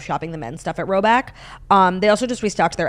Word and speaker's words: Rhoback: And I love shopping the men's stuff at Roback.